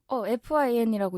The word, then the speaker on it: fyn: 작곡가님이시더라고요네 그리고 궁금했었던 게요 편곡을 fyn 어떻게 읽어야 돼요 fin이라고 읽으시면 돼요 아 그럼이 분도 작곡가님이신